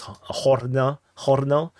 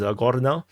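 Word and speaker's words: Gornal: in the sense that I can now pronounce this in Russian, because there's no more H. If not, if it's in Ukrainian, they will spell this as Hornau, and it will be very difficult to pronounce. So this is Gornau, and instead of Huevo is Guevo.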